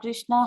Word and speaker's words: Krishna: Hare Krishna, Krishna Krishna, Hare Hare, Hare Rama, Rama Rama, Hare Hare. The words Hare, pronounced Hare, Krishna, pronounced Krishna, and Rama rhymes with Rama, are Sanskrit words.